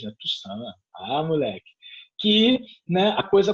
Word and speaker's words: Toussaint: né, não é Toussaint, né, é Toussaint, né, tem o sotaque francês, né, Toussaint, moleque, que, né, a coisa começa a acontecer.